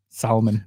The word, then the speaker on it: salmon: isn't it yeah salmon salmon oh that bugs made people say it is salmon there's an l there you gotta pronounce it some people i mean